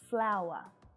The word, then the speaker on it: flower: so the pronunciation here we have a diphthong sound and the schwa sound flower both of these words